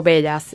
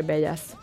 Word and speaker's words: Bellas: Y es velas como bellas, B-E-L-L-A-S. Porque ella es bella. Ay, no. No, mi esposo es griego y se pronuncia con una... se escribe con 2 L, pero se pronuncia con una.